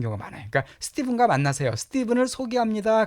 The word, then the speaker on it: Stephen: 이건 스티븐이라고 발음해 스테판이 아니라 스티븐입니다. 자, 우리 meet Stephen 명령문이죠. 스티븐을 만나세요 그 뜻이에요. 스티븐을 만나라.